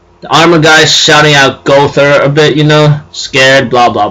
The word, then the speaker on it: Gowther: find the armored beast, which is Gowther, or Gowther, how I pronounce it, but it's Gowther.